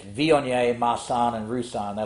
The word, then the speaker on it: Viognier: And then you show them the bottle and they're like, oh, I've heard of Vognier. I'm like, well, you mean Viognier, only pronouncing correctly.